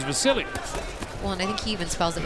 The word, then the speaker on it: Vasyl: some people call him the seal but it but he says and the people around say his name is Vasily well Nick even spells